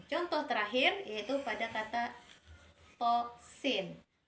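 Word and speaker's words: طس: Nah, contoh terakhir yaitu pada kata tosin. To-nya kita baca 2 harokat dan sin-nya kita baca 6 harokat.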